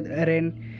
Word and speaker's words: Ren: Y mientras que Tauren es una difícil por el hecho de que se pronuncia Ren en japonés, entonces en español le